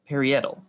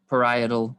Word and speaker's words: parietal: are visceral pleura and perietal parietal parietal pleura that is the correct way to say that parietal pleura visceral pleura